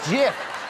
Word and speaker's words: Gyth: It's pronounced Gyth.